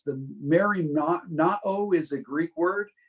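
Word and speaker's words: μεριμνάω: It's the merimnao is a Greek word. It's spelled MERIM A-O.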